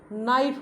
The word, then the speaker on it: knife: हम क्या है, KNIFE, अगर हम इसका उच्चारण करें तो ये कनाइफ होगा, मगर क्या होता है, ये नाइफ होता है, NIFE। इसमें क्या है, इसके अंदर हमारा साइलेंट है।